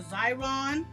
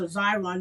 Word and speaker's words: Xyron: And it's a Xyron. You can Google it. It starts with an X.